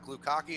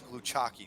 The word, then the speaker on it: Gluchaki: All right, it's not Glukaki, it's not Gluchaki, it's Gluchaki.